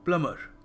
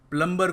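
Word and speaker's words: plumber: करना है बाथरूम देखो प्लम नहीं है बी जो है ना साइलेंट है तो यह क्या बन गया प्लमर प्लमर तो याद रखिएगा प्लंबर को मत फोन करिए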